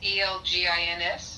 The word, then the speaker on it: Elgins: It's Elgins.